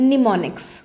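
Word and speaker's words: mnemonics: उन कोड्स को कहते थे निमोनिक्स, जिसकी स्पेलिंग शुरू होती है M से, ठीक है।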